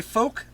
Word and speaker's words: folk: Is that how you pronounce the word folk? Folk. Transfolk. Transfolk. Folk! You said folk! Folk. The folks down at the store. The folks down at the store. Stop pronouncing the L!